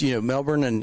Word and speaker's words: Melbourne: He even pronounces it Melbourne. Yeah, I know. Yeah. Yeah, he doesn't lean into the R like most Americans. He just goes for it. Melbourne.